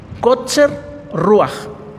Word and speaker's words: Kotzer Ruach: Kotzer Ruach. Kotzer se escribe Kotzer. Kotzer. Y Ruach es espíritu, sí, es Ruach. ¿Sí? Falta de respiro. En hebreo, Kotzer Ruach.